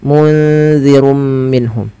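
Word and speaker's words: مُنذِرٌ مِّنْهُمْ: Maka nunnya disamarkan ke za. Munzirum minhum.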